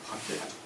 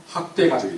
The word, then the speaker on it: 확대가족: 잘못 발음하면 학대가족이 됩니다. 학대가족. 네, 경상도 버전으로 하면 학대가족 이렇게 돼가지고 가족을 학대하는 것으로 나올 수가 있는데, 확대가족이 나오고 있습니다.